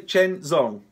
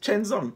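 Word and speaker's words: Chisnall: my name pronunciation so I'm just gonna say chains on just Chin's on nothing else against Bernie Smith now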